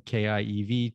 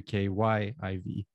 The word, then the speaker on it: Kyiv: now for a lot of english speakers from kiev to ky iv right well it's a pleasure to be here